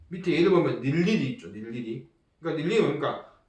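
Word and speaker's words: 늴리리: 우선은 자음을 첫 소리로 가지고 있는 음절 의는 자유를 잡으니까 이거는 이중모음 의는 발음하지 않고 단모음 이로만 발음합니다. 밑에 예를 보면 닐리리 있죠.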